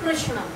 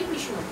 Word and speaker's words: কৃষ্ণ: কথার কথা ধরে নিচ্ছি কৃষ্ণ আমরা কি বলি কৃষ্ণ ওড়িয়া ভাষায় যারা কথা বলেন কৃষ্ণ আবার যদি গুজরাটে যাওয়া হয় কৃষ্ণা ঠিকঠাক কৃষ্ণ কিন্তু উচ্চারণ হচ্ছে না আর বাঙালিরা তো আরো